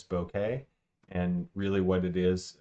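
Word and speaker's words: bokeh: we're going to say b-o-k-e-h which I Pronounce bouquet and really what it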